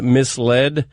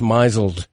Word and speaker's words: mislead: before I realized that the word mislead wasn't pronounced myzel which I don't like